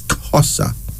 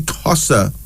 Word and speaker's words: Xhosa: that tribunal my Virgin voyance of Africa is xhosa bayani Big up yourself I can't talk about